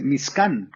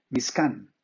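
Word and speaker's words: משכן: En hebreo no se dice tabernáculo, en hebreo se dice Mizkan, con K, Mizkan, que significa literalmente morada.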